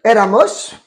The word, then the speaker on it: éramos: Donc ça donne éramos. Attention, il y a un accent sur le premier E.